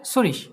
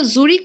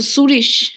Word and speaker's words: Zürich: ওকে, সুরিশ। ওইটা জুরিক হবে না? আচ্ছা, সুরিশ। ওটা ইংলিশে হচ্ছে জুরিক, বাট ডয়েচে হচ্ছে সুরিশ।